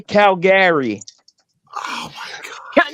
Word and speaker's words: Calgary: How do you say Calgary? Oh my god. No, if you say Calgary, you're not from Calgary. Calgary. It's Calgary, Yeah, like Calgary. grr. Like you're Calgary. making me No, grr. Calgary, like No, if you say no.